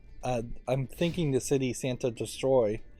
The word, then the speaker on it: Santa Destroy: I'm thinking the city Santa destroy which I'd always pronounced as Santa destroya and no more Heroes but I guess I misheard it uh that like there's